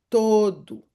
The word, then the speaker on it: todo: Então, o se reduz a U. Então eu digo todo. Na primeira sílaba permanece o inalterado todo.